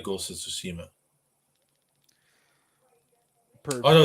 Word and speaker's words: Tsushima: It's not Shumi, but I can't pronounce it. Tsushima.